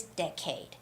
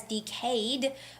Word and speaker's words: decade: the next word is decade now some people might read this as decade but it's decade decade with the first syllable stress hello jihan yes welcome